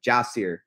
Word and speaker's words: JaSir: round and just just jasir taylor jasir that's how you pronounce it um and yeah he's